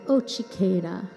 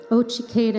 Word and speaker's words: Otsiketa: lean over to them and call it say ochikera let's try that ochikera ochiketa means like sweet sweetness or honey or sugar